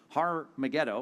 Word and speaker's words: Har Megiddo: Armageddon, or actually, if you were to say it properly, Har in Hebrew, Har, it means mountain or hill. Har Megiddo, or Armageddon, is the